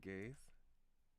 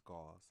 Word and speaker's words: gauze: how to pronounce though is it gays no no it is it's gauze okay grab some gauze